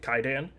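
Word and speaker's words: Kwaidan: One of my favorite Japanese movies is called uh it's spelled Quaidan, pronounced Kaidan.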